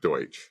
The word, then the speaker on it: Deutsch: So Dutch is a mispronunciation of Deutsch. Deutsch.